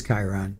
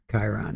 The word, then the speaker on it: Chiron: How do you pronounce? It is Chiron. Okay. Chiron.